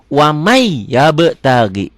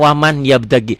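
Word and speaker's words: وَمَن يَبْتَغِ: Wamai yabtagi. Yabe ini qalqalah sugro ya. Wamai yabtagi. Tulisannya waman, dilatenkannya ya waman yabtagi, dibacanya wamai ya, N-nya berlebur jadi Y.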